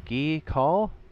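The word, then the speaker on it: Gea Kul: Southern expanse one of the main cities here ghee call that's how you say it and it's literally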